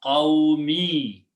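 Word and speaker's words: قومي: Okay, so we change the sound of mim to the sound of kasra and pronounce qawmi.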